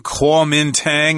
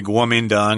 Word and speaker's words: Kuomintang: This is spelled with the old Wei-Jile system, Kuomintang. I've heard people say it that way, but very rarely most people say Kuomintang or the KMT.